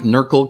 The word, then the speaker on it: NRQL: forth with nrql versus knurkle so i apologize i'm flipping back and forth there but that's what i mean when i'm saying an urkel statement um i like knurkle because it rhymes with urkel and then when you